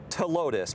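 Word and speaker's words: Ptilotus: heat okay it's called to Lotus p-t-i-l-o-t-u-s oh wow but the p is silent uh is it related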